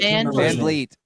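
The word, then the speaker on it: Van Vliet: Van Vleet.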